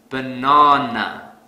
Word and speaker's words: banana: Let's say I pronounce this word as banana. This is incorrect because I don't stress the second syllable. So to fix this, I will stress the second syllable really hard. Banana.